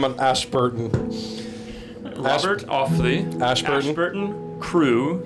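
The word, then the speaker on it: Crewe: Crew, spelled with an E at the end, hyphen Milnes, Milnes.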